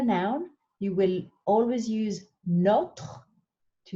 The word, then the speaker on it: notre: Notre can be tricky to say, so I always tell my students to put the t with the first syllable, not, and then worry about the separately. Notre. Notre. It makes it a bit easier to say.